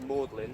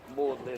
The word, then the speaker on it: Magdalene: But the reason it's pronounced Maudlin is because Maudlin and Audley sound similar.